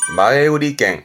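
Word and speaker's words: 前売り券: 그래서 발음은 마에우리갱, 마에우리갱.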